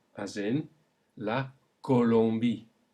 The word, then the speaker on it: Colombie: So, to recap, the O alone is normally pronounced O, but when followed by an I, we get a wa sound.